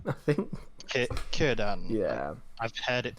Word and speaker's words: Círdan: It's Círdan, I think. Círdan. Yeah. I've heard it pronounced as. So. Yeah, I think all C's are K's for elves.